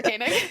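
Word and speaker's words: Koenig: Rashida Jones married to Ezra kanig I think that's how you pronounce his last name I don't know if he's like Sarah kanig that's how you pronounce that's exactly right yes my reference was Sarah caning uhuh um he is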